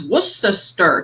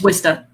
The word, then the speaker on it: Worcester: like where people like it's worcester stir like not twister it's wista i'll never get that